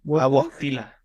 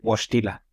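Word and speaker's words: Wojtyła: Carol Wojtyla. Wojtyla, ajá, así se me olvidó cómo se pronunciaba. Creo que es Wash, con la J es como S, como SH, Wojtyla.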